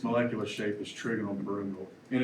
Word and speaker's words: pyramidal: I always say trigonal pyramidal, but I think it's pronounced pyramidal.